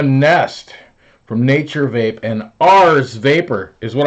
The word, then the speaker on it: Ares: Ars Vapor is what I'm going to call them because that's how it's spelled. Ars. It's not spelled Aries. It's spelled Ars. Aries would have some sort of I in there somewhere.